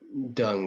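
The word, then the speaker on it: Deng: is his name right d uh no uh dung it's pronounced d-e-n-g dung i'm terrible at remembering english names so remembering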